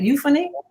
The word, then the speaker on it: Euphony: today, and that would be Patricia Tyson of Euphony Music Works. Am I pronouncing that right? Euphony?